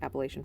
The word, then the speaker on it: Appalachia: cool folklore about like Appalachian folklore. Sorry, Appalachia, if you're from there, which my great grandparents were, but I've never lived there. So I say it like the northerner I am.